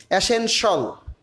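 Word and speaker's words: essential: অ্যাসেনশাল, শেয়াল উচ্চারণটা হবে না, শল হবে, অ্যাসেনশাল।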